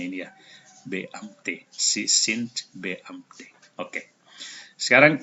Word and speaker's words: Beamte: Beamte, cara bacanya ini ya. Beamte.